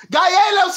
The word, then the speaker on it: Calleros: The L's make a Y and you got to roll the R. It's Calleros.